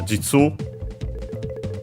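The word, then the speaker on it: 実: but uh actually it's simply uh jitsu uh accented on the last syllable it's a noun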